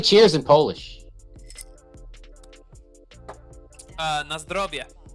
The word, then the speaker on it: Na zdrowie: Na zdrowie. Na zdrowie.